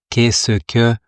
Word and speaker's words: qu'est-ce que: Et là, à vitesse normale, qu'est-ce que?